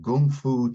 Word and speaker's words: kung fu: and people they do it's called Gung Fu tea ceremony they say no another one of those words that's spelled wacky k-u-n-g f-u kung fu people of course that